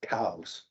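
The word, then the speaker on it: Coues: go online it's pronounced cows it looks like coup but it's pronounced cows and so there's an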